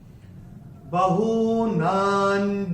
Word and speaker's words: बहूनां: पहले चरण में ना के ऊपर अनुस्वार के बाद का अक्षर है ज, और अनुस्वार के बाद जब ज आएगा तो अनुस्वार का उच्चारण होगा न।